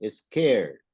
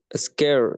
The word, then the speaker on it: scared: les quede para siempre cuando no tienen la t antes de la Ed no la pronunciamos la Ed Cuando tenemos una t